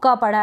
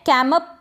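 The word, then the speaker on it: camp: ये जो एम है कैमअप नहीं बोलेंगे हम।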